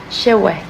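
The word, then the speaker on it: cewek: Non, la K à la fin, on la prononce pas. Shewek.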